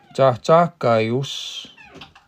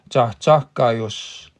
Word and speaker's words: âhkayos: âhkayos. That short O, and you see a short O like that, it makes us sound like a book or shook. Us. âhkayos.